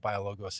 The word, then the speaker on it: BioLogos: give us a little more background on what biologos is and and why you're there and what